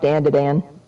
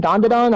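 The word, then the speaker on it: ダンダダン: I still need to watch Dan to Dan. You mean Don to Don? Is it Don to Don?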